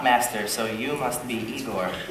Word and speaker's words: Igor: so you must be Igor no pronounced I go but they told me it was Igor well they were wrong words they did you